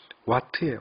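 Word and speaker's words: watt: 자, W는 읽을 때 와트예요. 와트. 와트라고 읽는데요.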